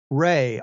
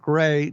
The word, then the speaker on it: Gray: you it it it if you say my name fast people think it's Ray r a y so having the two hard uh S A there nice and clean makes it right gray no not gray